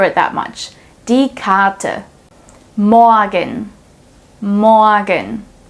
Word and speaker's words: morgen: Morgen, morgen. So I don't say morgen, but morgen.